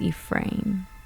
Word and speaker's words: Efren: so now I heard I was just looking up how to pronounce it and it looks like it's Ephraim okay good to know